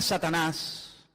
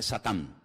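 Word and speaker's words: שָׂטָן: La palabra Satanás, que significa adversario, es un nombre que viene del hebreo. En hebreo no se dice Satanás, se dice Satán, que significa adversario.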